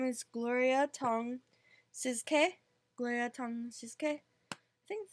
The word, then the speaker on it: Tsz: For her, so her name is Gloria Tong Sizke. Gloria Tong Sizke. I think that's how you pronounce it. TSZ. Siz. Because it's a silent T.